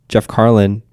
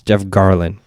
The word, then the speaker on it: Garlin: But like, I always saw that similarity that I was like, "Oh, Jeff Carlin." I believe his name's Jeff Carlin, right? I'm saying it right. Jeff Garlin. It's Jeff Garlin.